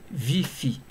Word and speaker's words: VIPHI: Tout à l'heure, nous allons utiliser une respiration nommée VIPHI, V-I-P-H-I, qui signifie vivance phronique isoquée. En inspirant, on prononcera VI, V-I, dans notre tête.